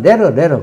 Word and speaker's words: latter: 그래서 레트인데 발음 기호상으로는 레트가 돼요. 그런데 실제로 읽을 때는 레러 그럽니다.